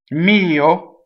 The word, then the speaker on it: mio: now let's keep going mio so the O is a closed oh and the accent is on the E and the possessive pronoun